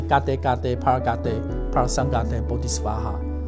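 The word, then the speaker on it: गते गते पारगते पारसंगते बोधि स्वाहा: 有这个，现在发音当然是什么揭谛揭谛波罗揭谛波罗僧揭谛菩提娑婆诃，对，但它原来的梵文的发音是嘎嘚嘎嘚帕尔嘎嘚帕尔桑嘎嘚波提斯法哈。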